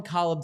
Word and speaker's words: Caleb: But I'm going to call him Calb Doy because that is the way everyone in Canada refers to him as. That is how like in all the scouting reports I watched, they are pronouncing it. the you can still go Caleb if you so choose.